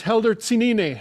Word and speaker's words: Helder Tsinine: is our music for today his name is helder cenini i hope i pronounced your your name all right helder i